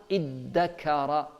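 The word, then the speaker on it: ادّكر: It's very, even when you pronunciate it, it's very difficult. That's always in Arabic. If the pronunciation is difficult, means more emphasis.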